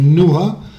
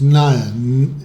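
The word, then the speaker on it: NYHA: York Art Association classification Nia sometimes you pronounce like NOA but actually the correct it's NAA New York Heart Association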